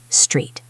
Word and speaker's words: street: Make sure you pronounce the S, T, and R clearly. Street.